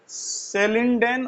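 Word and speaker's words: Schleiden: सेलिडेन और शवान, यानी कि ये जो CH क्या है, ये साइलेंट।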